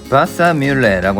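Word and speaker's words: Wassermühle: 독일어로 수차는 바사뮬레라고 하는데요. 물레랑 발음이 비슷하네요.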